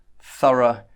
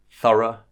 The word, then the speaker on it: thorough: schwa sound oh so it's the same sound as in about about about it's the lazy sound it's the most common sound in English so you'll hear it a lot and that's how you pronounce the O ugh in Sura and burrow so we say Sura and burrow burrow but syrup means complete